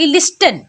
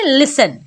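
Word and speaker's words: listen: ऑफ क्या पढ़ेंगे ऑफें जैसे है लिसन यहां पर भी टीई एन साथ में आया है तो यहां पर टी हो जाएगा साइलेंट तो क्या पढ़ेंगे लिसन लाक लिस्टन क्या पढ़ेंगे लिसन जैसे यहां है कैसल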